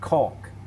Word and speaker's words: Conch: to conch key it's spelled conch but pronounced caulk as in i hope wilbur's engine doesn't conk out right now tomorrow we'll